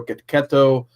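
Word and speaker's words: Checchetto: You got to say it like the Sopranos, like gabagool.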